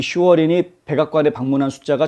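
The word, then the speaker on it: Schwerin: 헌터 바이든의 동업자, 아주 오랜 동업자로 알려져 있는 에릭 슈어린, 이 사람인데요. 뭐 독일식 발음으로 하면 슈베린 이렇게 되고요.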